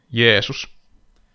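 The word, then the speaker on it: Jeesus: Finish Jesus finish Jesus is how is Jesus pronounced in Finnish by the way yesus okay you'll be yesus then okay I I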